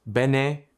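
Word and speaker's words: Bene Gesserit: The Beneserit sisterhood, pronounced Benjit, trained their bodies and minds to achieve superhuman control and perception.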